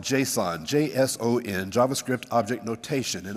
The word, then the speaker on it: JSON: naming, because it's called JSON, not Jason. And my good friend Taylor Desson here, please let him know if he didn't hear it from Dallas. It's not pronounced Jason, it's pronounced JSON.